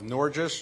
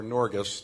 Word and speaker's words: Norges: um the CEO of noris or norus depending on your pronunciation Investment Management y uh